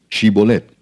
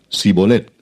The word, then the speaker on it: Shibolet: Si él respondía: No, entonces le decían: Ahora pues di Shibolet. Y él decía Sibolet, porque no podía pronunciarlo correctamente. Entonces le echaban mano y le degollaban junto a los vados del Jordán.